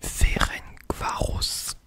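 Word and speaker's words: Ferencváros: même si vous l'avez attention à la prononciation alors il s'agissait du ferengvos TC voilà donc j'accepte ferengvos donc un Club de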